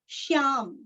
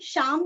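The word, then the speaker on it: श्यामलम्: दशरथ तनयन दशरथ तनयम श्यामलम श्यामलम श्याम हम श्याम नहीं श्याम आधा श या पूरा श्याम श्यामलम शांतमूर्तिम शांतमूर्तिम मुंह दीर्घ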